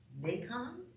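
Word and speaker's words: Naikan: there's a Buddhist Meditation I think it's pronounced nonon n a i k a n okay it's it's it's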